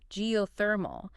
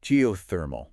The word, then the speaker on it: geothermal: you break it down geothermal the emphasis is on the third syllable geothermal okay I think I